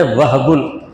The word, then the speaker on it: وہب: اس کا مصدر ہے وہبن، اصل تلفظ اس کا وہب۔ اب ہم ہا پر سکون کریں گے تو تکلیف ہوتی، وہب کہہ دیتے ہیں۔ ہم لوگ تو لفظ